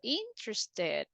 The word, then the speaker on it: interested: The verbs that are ending in letter T or D, right? What is the pronunciation? We say Wanted. wanted. This is the same pronunciation for interested. Look, it's ending in T sound before the ED.